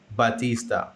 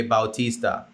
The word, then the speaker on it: Bautista: so her name is actually jasmine batista okay bautista okay so the way you